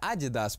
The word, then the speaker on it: Adidas: Кстати, правильно, название Adidas произносится с ударением на первый слог.